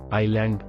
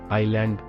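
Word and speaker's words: island: ಅಂಡ್ letter D listen ಐಲ್ಯಾಂಡ್ ದ್ವೀಪ cell ಅಂಡ್ letter is ಐಲ್ಯಾಂಡ್ deck ಸಾಲ cell ಅಂಡ್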